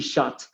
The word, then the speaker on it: shoot: diferencia entre sh y shot, ¿no? El primero es sho, ¿no? Con una con una u ahí bien marcado, con un sonido similar al de una u nuestra.